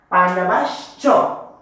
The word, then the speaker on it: পাণ্ডবাশ্চ: সব উচ্চারণ করতেছি এখানে এখানে যেহেতু তালিব পেশ এরকম আছে পাণ্ডবাশ্চ আমার থেকে তালিব পেশ প্লাস চ আছে সেজন্য আমার তালিব পেশ এবং চটা উচ্চারণ করতে হবে সেজন্য পাণ্ডবাশ্চ পাণ্ডবাশ্চ এব পাণ্ডবাশ্চ এব এটা উচ্চারণ এরকমই আসবে কিম অকুর্বত কিম অকুর্বত